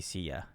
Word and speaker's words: CYA: It used to be Sia. Oh, okay. Okay. CYA. Okay. And it's pronounced like the company Kia.